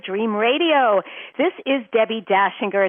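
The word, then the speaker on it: Dachinger: So, you understand my name is not spelled like the Christmas song. It's Austrian.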